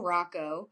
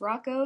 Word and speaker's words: Hracho: You know, my name is Rocco. Yeah. A lot of people don't know that my last name is pronounced Rocco, so I think the nickname might confuse them a little bit.